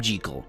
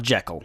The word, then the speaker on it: Jekyll: And yes, I did call him Jekyll. That's how you're supposed to pronounce it, not Jekyll.